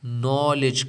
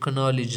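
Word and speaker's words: knowledge: سالم hymn hymen नहीं नॉलेज कनॉलेज नहीं नॉलेज नो कनो नहीं कैसा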